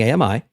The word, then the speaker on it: AMI: Remember, 2 syllables wrong, 3 syllables good when pronouncing AMI.